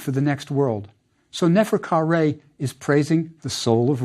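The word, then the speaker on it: Neferkare: How is it pronounced, and what does it mean? Nefer Ka Re is how it sounded.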